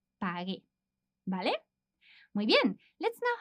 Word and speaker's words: pagué: However, because as we said, we need to keep the same pronunciation as the infinitive, we need to add the U to make that softer sound pagué.